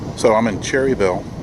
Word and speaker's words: Cherryville: So I'm in Cherryville. It's actually not pronounced Cherryville. It's Cherryville, North Carolina.